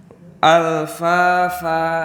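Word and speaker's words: ألفافا: Alfafa. Ini ada dua mad yang bergandengan, maka kita harus membacanya dengan cara diayun.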